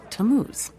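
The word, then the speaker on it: Tammuz: His name is Tamuz. To what? T A M M U Z. It's pronounced Tamuz.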